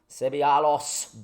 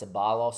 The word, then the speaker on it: Ceballos: when i don't know so that's ceballos ceballos sebialos sebby with a c not vivid s it's